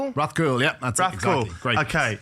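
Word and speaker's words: Rathcoole: Um Dra, you grew up in a place if I'm going to butcher this uh pronunciation. It was Rathol. Rathcool.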